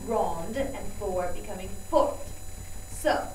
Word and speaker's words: grande: you added that E, but it does change the pronunciation if you add that E and the word originally ends in a consonant, like grand becoming grande and fort becoming fort.